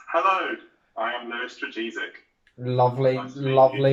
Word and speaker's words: Lewis Dragisic: His name is Lewis Dragisic. Hello, Lewis. That's not how it's pronounced. Hello, I am Lewis Dragisic.